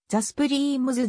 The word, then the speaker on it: Supremes: 例が多いがより原音に近い発音は the スプリームずであるものの依然と